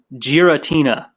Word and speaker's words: Giratina: joking no no I believe I believe the pronunciation is Giratina is this involving Pokemon Pokemon another reason I